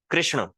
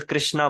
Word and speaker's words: कृष्ण: जैसे कृष्ण, कृष्ण, उनको लोग आजकल कृष्णा बोलने लग गए हैं। कृष्ण, कृष्ण।